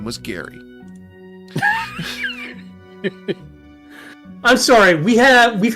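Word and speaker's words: Gari: Uh, G A R I, pronounced Gary.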